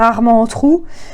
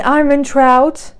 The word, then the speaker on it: Armentrout: Alors j'aime bien prononcer comme ça, c'est sur la chaîne de Nina Quill que j'ai vu que c'était Jennifer Arment-Entrou. Et j'avoue que depuis qu'elle a prononcé comme ça, j'aime bien. Donc, bon, du coup, j'ai tendance à me dire, bon bah Jennifer Arment-Entrou, je suis désolée chérie. Ah là là. C'est Armentrout, c'est pas grave.